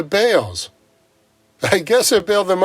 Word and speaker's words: Balls: Harry balls was gone his family changed the pronunciation of their last name to Bales I guess it bailed